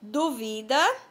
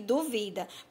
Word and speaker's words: duvida: As palavras são duvida e dúvida, ó, bem parecidas. A diferença é quanto à sílaba tônica. Dúvida e duvida.